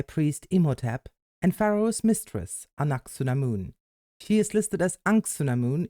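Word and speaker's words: Anck-su-namun: kaara straight I guess the actual pronunciation is anaksunamun I butcher names myself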